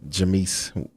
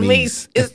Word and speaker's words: Jameis: The Tampa Bay Buccaneers are going to play the New Orleans Saints with Jameis. My wife, she calls him Jameis. I know it's different because I have a friend named Jameis, but I always be saying Jameis, but it's like his name is Jameis.